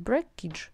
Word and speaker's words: breakage: Все, он всегда читается как age. Примерно вот так вот, да, age. И вы сразу можете слово прочитать breakage, breakage.